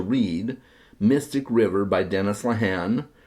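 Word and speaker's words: Lehane: River by Dennis lahan or leane depending on how you pronounce it I have some Irish friends that pronounce it lahan I think they would know so I'm going to go with lahan but I've heard it pronounced differently uh this is a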